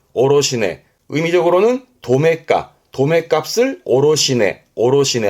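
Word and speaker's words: 卸値: 그래서 발음이 오로시네. 오로시네.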